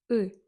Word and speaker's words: ы: Теперь, когда мы протягиваем букву У, у, в конце мы начинаем медленно улыбаться. Улыбаться. Угу. Например, у О. У. Слышали? В конце буква ы.